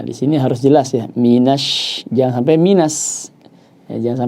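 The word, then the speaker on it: مِنَ: Kemudian mina, tidak mino ya. Minasyaiton.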